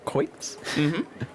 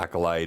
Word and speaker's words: acolyte: bustling back and forth all coits i've always said it that way no i know it's just accolate yeah acolyte is actually i think how it's pronounced but for years i've said it that way and you walk in